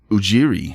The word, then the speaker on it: Ujiri: Or Ujiri. Yeah, Ujiri.